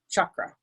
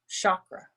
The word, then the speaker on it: chakra: the woodchucks right the difference in pronunciation is chakra is the sanskrit pronunciation chakra is an english anglicized western pronunciation it goes deeper than